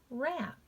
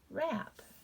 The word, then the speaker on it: wrap: making that w sound at all silent w wrap wrap to wrap around rung wrong ring wristband wreath